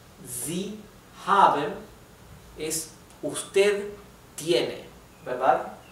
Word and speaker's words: haben: O the haven es usted tiene, ¿verdad? se pronuncia exactamente igual, solamente que se escribe con mayúscula el de usted.